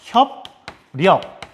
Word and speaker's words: 협력: 그 다음 협력도 마찬가지입니다. 리을이 다른 자음 뒤에서 발음되기 힘드니까 같은 조음이친 니은으로 바뀝니다. 그리고 요게 이 니은이 비읍에 영향을 줘서 비읍이 미음으로 바뀝니다.